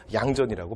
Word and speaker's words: 양전: 그래서 량전인데 우리는 이제 두음법칙이니까 양전이라고 발음하는 거죠.